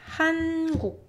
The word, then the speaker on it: 한국: This one is easy because in English language as well, you don't extend N sound either. Like for example, when you're pronouncing, you know, this word, it's hen, right? Hen. It's not hen, right? It's hen. And that's the same with 니은 Batchim.